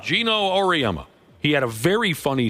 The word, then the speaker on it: Auriemma: Auriemma. Gino Auriemma.